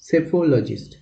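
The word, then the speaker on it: psephologist: পিটা এখানে silent, সেফোলজিস্ট।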